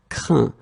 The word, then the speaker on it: craint: Craindre, craint. And even if you write it differently, the sound is exactly the same as we had previously. Un, craindre, same thing here, craint. Okay, final T not pronounced.